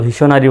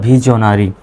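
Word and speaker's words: visionary: যদিও বা ভিশনারি বলা হয় সঠিক উচ্চারণটা হলো ভিজনারি।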